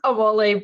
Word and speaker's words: Omole: It's Omole, but lots of people say Omole, which is fine. I had a 50-50 chance. So Dr. Omole.